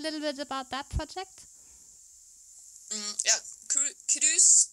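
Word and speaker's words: krus: But speaking of Norway and wool, you also have a new project that you call Cruise, if I say it correctly. Can you talk a little bit about that project? Cruise, spelled K-R-U-S, is the Norwegian word for crimp.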